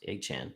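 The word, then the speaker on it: Achane: I mean, I like Echan a whole lot better, but he asked to be pronounced Echan, so I'm gonna be respectful and call him Echan.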